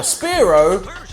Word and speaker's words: Spearow: But I still remember Spearow rhymes with slow bro.